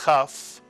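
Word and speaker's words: כ: Without a dagesh, the kaf is pronounced as a chaf, slight clearing of the throat.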